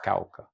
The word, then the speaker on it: Cauca: And I'm sure I still pronounce it with an American accent, but yes, it's Cauca.